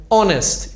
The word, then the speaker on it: honest: começo por exemplo mas em algumas palavras ele é mudo como no português por exemplo honest também our Então são alguns